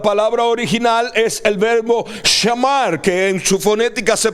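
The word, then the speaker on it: שָׁמַר: original es el verbo shamar, que en su fonética se pronuncia shuamar, como que tuviera una W por el medio, y su definición es guardar, guardado, guarda, cercar, guardia, para proteger, prestar atención a.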